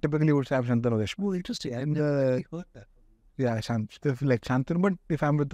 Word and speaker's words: Shantanu: So the way my name is pronounced is Shantanu. Yes. Maharashtrian, but Hindi-speaking people always pronounce it as Shantanu. So Shantanu and Shantanu.